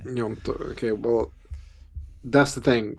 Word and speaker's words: Gnonto: So it could be one of Sinistera or Wilfried Gnonto. Is that how you pronounce his name? I think so. There's Yeah. actually a discussion about that, but yeah, Nyonto Yeah. is what most people say. Gnonto.